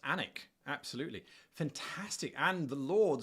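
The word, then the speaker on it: Alnwick: Uh but it's pronounced Anic.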